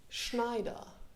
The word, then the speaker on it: Schneider: transcription of mr schneider exactly neither exactly this is the way you you you're supposed to pronounce that let's make it german schneider yeah sounds very nice